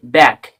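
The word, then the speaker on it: back: for example for example B এ সি কে ব্যাক এখানে কিন্তু সি এর উচ্চারণ হচ্ছে না এখানে শুধু কে এর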